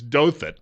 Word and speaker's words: Douthat: Ross, I think it's Douthat.